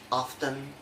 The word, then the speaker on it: often: The letter T only has one rule, that is not pronounced in the following common English words.